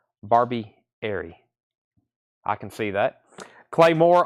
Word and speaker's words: Barbieri: Brothers to Lou Street Gerard says gato Barbie Arie gato barbieria thank you for helping me with a pronunciation there Barbie Airy I can see that